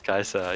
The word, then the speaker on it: Caesar: which is you know i approve of the technical correct latin yeah it is kaiser yes easy pete you're